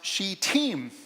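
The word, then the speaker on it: Shittim: I look this up it's pronounced she team just you can relax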